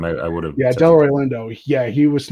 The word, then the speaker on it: Delroy Lindo: the first time i i would have yeah delroy lindo yeah he was not for the golden gloves